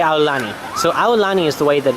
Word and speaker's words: Aulani: oh well she doesn't say our London so a lolani is the way that it's supposed to be pronounced a lot of people pronounce it Aulani which is fine too that's totally fine that's